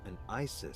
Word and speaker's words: Isis: Iris are connected yeah Isis sounded like Asad in ancient Egyptian which is where your